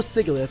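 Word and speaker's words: Sigilyph: And if he does bring Sigilith or Sigalith, however you want to pronounce it, um what if he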